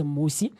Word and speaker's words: Musi: explaining to him that my name is musi and it's spelled m u s i but a lot of people Mis mispronounce it and misspell it and say m with MSI and the two mean completely different things they are not related